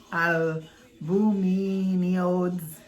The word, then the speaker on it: albuminoids: Oil is made by the union of sulfate of pastanium potash with albuminoids and aerial element.